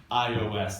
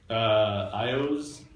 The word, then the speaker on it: iOS: Is there a food that it rhymes with? iOS? No. Oreos? Oreos. Okay, good, thank you. We could have added a cheer onto the front to just make it Cheerios.